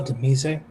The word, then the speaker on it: de Mise: Did you spell Demise? Yeah, it's spelled like demise. Her name is Lilith Demise. It's de Mise, it's French.